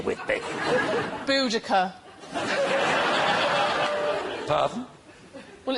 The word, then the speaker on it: Boudica: Well, look, Miranda, I know we're getting to the end of the show, but there's no need to go all Queen Boadicea with me. Boudica.